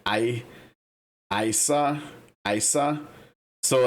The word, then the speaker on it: Ayishah: It sounds like Isa. Isa it. Or maybe maybe the Y is silent. Maybe it's a Y s a H. How she's pronouncing it, right? I Isa.